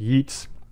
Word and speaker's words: Geats: It's the Anglo-Saxons that use the word Yeats, and it's not exactly a Y sound, but it's not a G sound either.